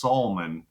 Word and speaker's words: Salmon: of my name because my name's spelled salmon like the fish and it's pronounced solman because we uh grew